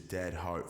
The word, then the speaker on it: DXSDHEART: all right so listen my artist name is spelled r d-x-s-d-h-e-a-r-t which is dead heart and the reason